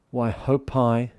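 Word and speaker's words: Waihopai: of them is actually why hope i hope i pronounced that correctly today i got told off yesterday why hope i is that right milsie yep i've got the official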